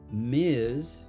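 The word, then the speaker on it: Ms.: Miz is for a woman.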